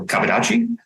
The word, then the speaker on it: kabudachi: style or kaboni uh kabu dachi I'm just GNA make sure I say it right uh in J in Japanese dialect it would be faster than that because there's no pauses so kadachi or when that translates